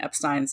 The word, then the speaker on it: Epstein: to really pronounce Brian Epstein's last name and we'll link it in the show notes and we collected all the evidence all the hardcore stuff that will prove it is Epstein not EP no matter who